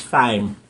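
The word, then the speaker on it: thyme: if there's such a word that's the word pronounce right fresh thy nobody say th really it's just th watch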